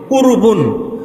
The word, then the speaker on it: কুরবানি: কুরবান এটা মূল শব্দ এখান থেকে উর্দু বা ফার্সি উচ্চারণ আমরা করি কুরবানি অর্থাৎ যার মাধ্যমে আমরা